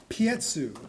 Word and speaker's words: Piekuch: Anna, it's spelled Piekuch. Tell me. Pietsu.